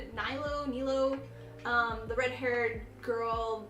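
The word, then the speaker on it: Nilou: moved from Texas that was the I always butchered the name n-i-l-o-u nilo nilo um the red-haired girl love the character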